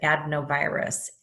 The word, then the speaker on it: adenovirus: up on merriam-webster and it pronounced it ad no virus adenovirus but adenovirus no edna virus that's what I heard